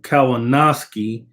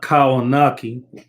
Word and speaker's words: Kownacki: It's Adam Kownacki, not Kownacki. But anyway, salute LDBC 100 for sure. Um, I mean, the fight basically it was exactly what most people expected. Kownacki, we already know what he comes to do.